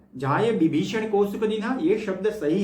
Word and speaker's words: विभीषण: गई सर लोका जाय विभीषण को सुख दिन सीता निरख परम पद लीन देखो ये अवधि भाषा है तो यहां पर व को ब के उच्चारण से किया गया है विभीषण को विभीषण सुंदरकांड के